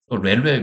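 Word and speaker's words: RHEL: 그래서 뭐 보통 우리가 렐 그럽니다. 외국 사람들도 렐도 렐 뭐 렐 10 이렇게 발음을 하는데 레디 엔터프라이즈 리스라는 걸 만들어서 예 유료로 판매하기 시작을 합니다.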